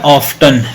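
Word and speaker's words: often: ग आ देखो ये वर्ड है ऑफ्टन बिल्कुल सही है ऑफ्टन लेकिन जब बड़े हो जाएंगे तो फिर पढ़ेंगे ऑन टी साइलेंस कर देंगे इसको टी पे साइलेंसर लगा देंगे टी पे क्या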